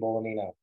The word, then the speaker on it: Bolognino: And that's my handle, Bolognino. The G is silent, and that's me.